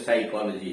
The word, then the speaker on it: psychology: हाँ, आपकी बात ठीक है, पी का उच्चारण प होता है, लेकिन शब्द के शुरू में PN आ गया या PS आ गया तब पी साइलेंट है। जैसे साइकोलॉजी है, निमोनिया है।